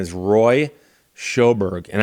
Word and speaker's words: Sjoberg: His name is Roy Schoberg. And I'm I'm using the American pronunciation.